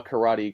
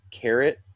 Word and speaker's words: karate: like I mean maybe carrot maybe Kate right so like but but if you heard the Japanese right is is karate right it's it's three syllables and the way that